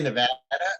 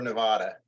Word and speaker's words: Nevada: Yeah, do you say Nevada or Nevada?